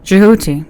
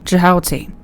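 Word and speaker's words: Djehuty: The Egyptian pronunciation of jihoti is not fully known but may be reconstructed as jioti.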